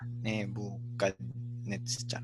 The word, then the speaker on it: Nebuchadnezzar: Nebuchadnezzar. 5. 5. 5 syllables. Obviously, the stress is on this net 5. syllable. Yeah. Netzar. Notice that chaf is soft.